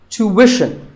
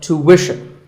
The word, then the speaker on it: tuition: british but after that it's not ishan tuition you have to put the what sound there so tuition word number 41 is